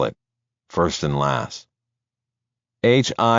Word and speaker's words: Hieronymus: HIERONYMUS and BOSCH. Hieronymus, like the painter.